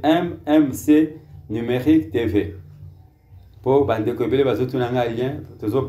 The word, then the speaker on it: MMC Numérique TV: Tolo bakango MMC Numérique TV parce que une prononciation peut-être à l'anglaise, mais c'est MMC Numérique TV.